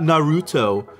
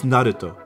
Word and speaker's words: Naruto: Naruto. Naruto. There you go. Hopefully that was correct. Not Naruto. It's Naruto. Anyways, Warcraft.